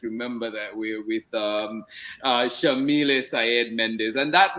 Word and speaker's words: Yamile: he named me so Shamil is an Arabic name pronounced with an Argentine accent we say the white